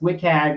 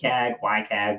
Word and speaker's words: WCAG: content accessibility guidelines or wcag for short or pronounced wik wik ycag whatever you want to call it that is obviously